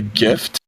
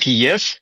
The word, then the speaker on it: GIF: Yeah, G like J IF. GIF. If you pronounce that like YIF, you might be a furry.